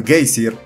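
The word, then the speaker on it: geysir: 10 pesas el géiser palabra que los islandeses pronuncian casey y que significa furor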